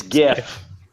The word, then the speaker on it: GIF: It's GIF. I would agree. Hard G. Yeah. Gee.